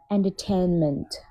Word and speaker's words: entertainment: Entertainment. Entertainment. Not tan, yeah? Tain, AA sound.